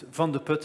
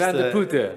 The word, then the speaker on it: Van de Putte: It's Van de Putte, a very difficult name to pronounce, but it's not a problem, but just... Van de Putte.